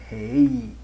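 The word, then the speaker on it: ר: Que é a 5ª letra do alfabeto hebraico, chamada de Rei, pronuncia-se Rei, e tem um som de R, como em rua, certo?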